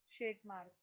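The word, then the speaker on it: Tschermak: और तीसरे थे Irish von टेस्मार्क, Irish Irish इरिच वॉन शेटमार्क, T silent है यहाँ पे, ठीक है।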